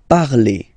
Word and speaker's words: parlez: Remember, a Z, when you combine them together, you get the sound E. Vous parlez, all right?